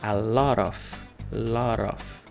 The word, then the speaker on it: a lot of: A lot of, que como eu falei, a pronúncia geralmente, né, de uma forma normal, a gente fala a lot of, junto T com O, lot of.